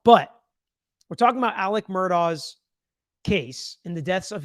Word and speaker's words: Murdaugh: with by the way Alec Murdoch that's what I'm gonna go with okay because I've been given all sorts of different pronunciations from murder which is what I usually say to Alex to Alec